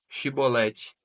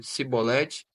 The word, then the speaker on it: Shibolete: Se respondesse que não, os homens de Gileade lhe diziam: Então deixa Shibolete. Se ele dizia Sibolete, não podemos pronunciar corretamente a palavra.